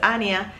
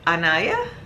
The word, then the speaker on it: Anya: my name to people hi my name is Anya and people are ania ania ana like let's just completely do without the I cuz we don't really